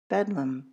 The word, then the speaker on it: Bedlam: The name soon shortened colloquially to Betham which thanks in part to the schwah saw a change in pronunciation to bedum.